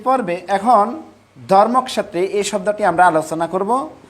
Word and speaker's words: ধর্মক্ষেত্রে: যেহেতু ক্ষীয়টা ক প্লাস মূর্ধন্য ষ, এই দুইটা বর্ণের মিলনের ফলে হয়, সংযুক্তির ফলে হয়, সেজন্য আমরা প্রথমে এটাকে উচ্চারণ করব ধর্মক্ষেত্রে।